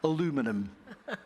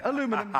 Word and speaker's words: aluminum: a massive producer of is it aluminium that's the proper way of pronouncing it yes or is it the other stuff aluminum you know it depends which country you are so we're here you know if you're in france this has a different pronunciation aluminum are you doing the american way aluminum we'll do aluminum uh